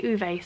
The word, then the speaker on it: Ove: And I know that this is pronounced a number of different ways, but I looked it up and apparently the Swedish say Uve, so that's what I'm going to say.